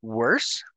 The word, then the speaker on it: worse: We also know that these words are expected to rhyme. So we say verse. And then, even if we don't know what worse is, we know how to pronounce it. Worse.